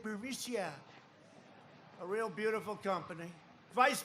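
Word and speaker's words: Burisma: the burmesa executives so this uh buremicia bermucia they say pronounce it bericia a real beautiful company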